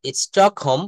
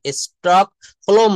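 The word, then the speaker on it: Stockholm: এট 1833 এট স্টক হোম এখানে এলটা কিন্তু silent স্টক হলোম না এখানে হোম এইচ ও এম এল কিন্তু এখানে সাইলেন্ট লেটার অর্থাৎ 1833 সালের 21শে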